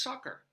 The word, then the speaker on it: succor: But the word is actually pronounced succor.